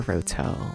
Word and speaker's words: Roto: Or Roto, I guess I should say. Okay, I should really pronounce the T if people are searching it.